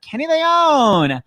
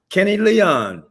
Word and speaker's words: Kenny Leon: Here he is, director extraordinaire, Kenny Leone. Hello, hi, Kenny. hello. What's up? Hi, Kenny. Am I pronouncing your last name right? Kenny Leon.